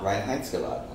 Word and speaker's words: Reinheitsgebot: Reinheitsgebot.